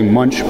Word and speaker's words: Munch: and gotten the and the old uh German pronunciation of my last name which I we all say Munch because we're American and we have no clue how to say anything else besides you know English consonants and we just have